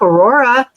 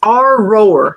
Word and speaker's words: Aurora: Aurora." And he said, "It's our roar. If you were from here, you'd know.